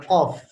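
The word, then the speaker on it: ق: misalnya apa qo ya qof Nah Q di lidah bagian belakang ya pangkal lidahnya naik itu Q dengan Kaf misalnya ya dengan Kaf k ya ini enggak bisa ditukar-tukar ya tidak tepat makhraj nya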